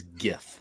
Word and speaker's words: GIF: rob first of all the g stands for graphic people that's a hard g so it is gif all right it's not